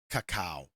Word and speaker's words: Kakao: Before I continue, can I ask, how do I pronounce this? Kakao.